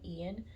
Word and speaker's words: Ian: I feel like Ian, you can pronounce it, can go both ways, English and Spanish. I think you would pronounce it the same, Ian, or Ian, but I think I like Ian. I mean Ian. I don't think you would pronounce it Ian.